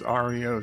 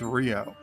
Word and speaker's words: REO: Christmas Jeff hi Jeff the band spelled it out speaking each letter hello so to the band it is Ario speed wagon to the car motor company that it was based off of it's Rio so I'm right